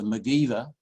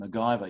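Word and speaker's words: MacIver: but you know that she was a megiver as they call it in Scotland and MacGyver you might say uh uh as a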